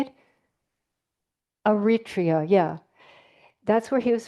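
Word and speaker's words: Eritrea: Utria in Africa. That little tiny country. What? Well, how do you say it? Aritria.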